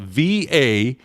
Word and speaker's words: Valladolid: Well, first of all, what confuses it is that in Spanish, they pronounce the V like a B, so I got to try to get my brain around that. Then the 2 L's sounds like a Y.